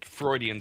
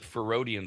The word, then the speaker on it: Freudian: it bugged me that she would mispronounce Freudian slip, Ferodian slip, she just kept goddamn doing it because it kept goddamn bugging me. It's not a there's no ferid. There's no Freudian.